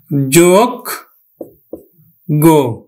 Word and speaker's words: যোগ্য: তাহলে আমরা অন্তস্থ জয়ের উচ্চারণ করি না, বর্গীয় জয়ের উচ্চারণ করি, তাহলে আমরা লিখব যোগ গো, যোগ্য।